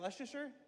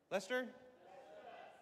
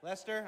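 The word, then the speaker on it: Leicester: How do you say it? Is that Leasher? Lester. Lester.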